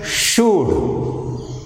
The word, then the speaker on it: should: In the third example, that is should, SHOULD. Here sound L is silent.